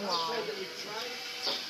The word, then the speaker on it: Walle: I'm here this afternoon in beautiful Italia with one Brianna Walle. Her last name is spelled W-A-L-L-E, but the E, it's silent.